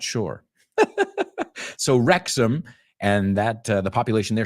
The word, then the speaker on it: Wrexham: Now, Americans, a lot of time, we pronounce that ending ham, like you guys, Tottenham. But it's Tottenham.